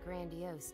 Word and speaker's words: grandiose: Stampin but still they I hate the word grandiose because it feels wrong to pronounce it grandios I feel like I feel like it should be pronounced like Grand you know but no it's not pronounced like that every day they'd receive